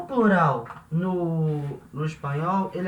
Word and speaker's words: plural: escreve igual espanhol uma na hora de falar a gente fala plural da sl não vai ter som de u com português natural não plural humorado e e o plural no no espanhol ele